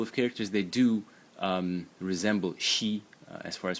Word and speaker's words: 惜: So the first character in the series is pronounced she in the first tone, and it means pity or regret.